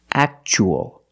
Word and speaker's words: actual: And the second word, we see T-U-A as a second syllable. So the T is pronounced ch-ch. Actual.